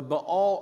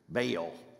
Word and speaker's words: Baal: I grew up where it was given a particularly strange Southern pronunciation Bale like if it's two A's you just hunker down on the a bail it's a dipthong so it's Ball but nonetheless this horrifying